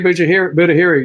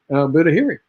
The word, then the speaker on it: Budahiri: Budahiri, you did pronounce it right. Budahiri, and thanks.